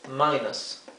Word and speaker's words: minus: Y cuando está en uso decimos minus. Minus. La I se pronuncia I.